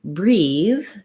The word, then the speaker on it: breathe: the red tent vowel versus breathe this ea is the e sound so it sounds like a tense e and this is a voiced th breathe and then if i